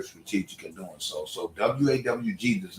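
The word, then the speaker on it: WAWG: Stop calling me WAG Kennels. I'm not WAG Kennels. I don't know what the fuck that is. It's W.A.W.G.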